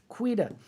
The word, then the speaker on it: Quida: you by thomasquida thomasquita if you want to know how to say his name say quitter like an australian cuida uh thomas tweeter he's